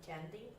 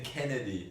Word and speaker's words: Kennedy: Candy? Who's Candy? Oh, that's the one. How do you pronounce? You're saying Kennedy, Oh, but Kennedy.